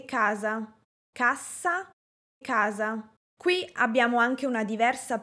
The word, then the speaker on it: cassa: La "A" es breve y todo el énfasis cae sobre la (letra) "S". CASSA. CASSA. O sea, no digo "caaasssa".